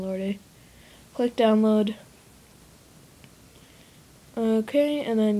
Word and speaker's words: Lorde: going to put royal Lorde I know and I know it's to pronounce Lord I just like saying lordy click download okay and